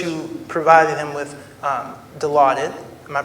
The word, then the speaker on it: Dilaudid: sir the first you provided him with um Dilaudid am I pronouncing that correctly that's correct yeah and then